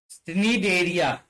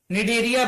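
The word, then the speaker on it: Cnidaria: सिनिडेरिया, सिनेडेरिया, निडेरिया बोलते हैं वैसे उसे, सिनेडेरिया नहीं, ये सी साइलेंट होता है, निडेरिया कहते हैं, निडेरिया।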